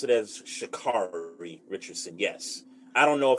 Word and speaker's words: Sha'Carri: I pronounce it as Sha'Carri Richardson.